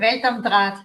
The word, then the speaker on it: Welt am Draht: Welt am Draht, yeah.